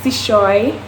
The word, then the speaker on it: Chesouye: So my name is pronounced Chesouye. My name has an accent over the last E, so it does not look. It is not pronounced as it is, as it seems.